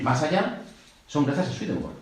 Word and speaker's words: Swedenborg: Aquí tenéis unos cuantos, desde Jorge Luis Borges, el escritor, que dijo de Swedenborg, yo no voy a pronunciarlo en inglés, porque creo que en sueco es Swedenborg.